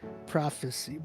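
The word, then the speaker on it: PROF3CY: This guy's name is Prophecy with the number 3. So it's spelled with 3. So it's PROF3. CY. Prophecy.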